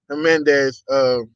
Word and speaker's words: Jimenez: I got a very special guest today with me, Jimenez. Jimenez or Jimenez. How you say it? I messed Jimenez. up. Just act Jimenez. like the Okay. J, just like the J's and H, man.